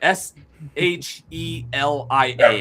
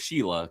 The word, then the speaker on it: Shelia: It's Shelia. S H E L I A I think is how it's spelled. So it's Shelia. Um, they say it in the cut scenes a bunch of times, but I I went into it thinking her name was Sheila.